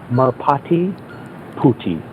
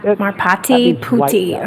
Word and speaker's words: Merpati Putih: It's Merpati Putih, which that sounds funny in English. Yep. Yeah, Merpati Putih.